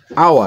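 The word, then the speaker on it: hour: থাকে অনেস্ট লেখা আছে হাওয়ার কিন্তু আমরা পড়ি আওয়ার অর্থাৎ এস এর উচ্চারণটা সাইলেন্ট থাকে ও তে আওয়ার এরকম এক্সেপশন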